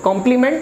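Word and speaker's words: complement: सो कॉम्प्लीमेंट एंड कॉम्प्लीमेंट pronunciations are same, इनके उच्चारण बिल्कुल सेम है।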